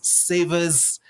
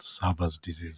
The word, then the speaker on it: Sever's disease: Is it Sever's disease or Sever's disease? You know, Bo, you can let us know about that. The pronunciation, then we'll get to know what it is all about. Yeah, it's called Sever's disease. Sever's disease. Sever. Yes.